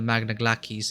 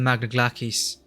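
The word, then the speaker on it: Magna Glacies: did you reach the magna glackies i really were pronouncing that i think the pronounce is glackies right did you cross the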